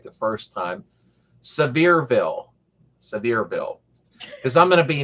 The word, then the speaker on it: Sevierville: You pronounce it right the first time. Sevierville.